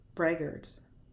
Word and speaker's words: braggarts: Here, the letter AR is pronounced as ER. Let's take a look. Braggarts, braggarts.